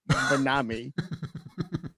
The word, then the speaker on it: MYNAME: It's MYNAME, and it's pronounced Minami.